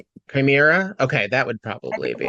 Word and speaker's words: chimera: Yeah, it's Chimera or Chimera.